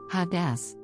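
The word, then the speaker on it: הדס: Jewish terminology word is a Hebrew noun pronounced Hadas this is a branch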